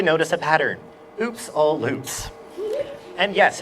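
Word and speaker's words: Lupe: you'll you'll probably notice a pattern oops all loops and yes it's pronounced Loop there's an official pronunciation guide in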